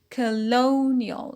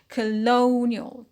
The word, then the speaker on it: colonial: line rule ial suffix it becomes a colonial so stress on the peanut as usual colonial colony colonial what we